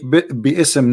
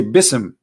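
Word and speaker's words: بسم: say you see here you didn't say be ISM no more here they say BISM so it's not an error scribe it's an error in the pronunciation are you getting my point because they are not saying and when they recite the Quran they don't say be issome and it's written wrong no they recited BISM and I will tell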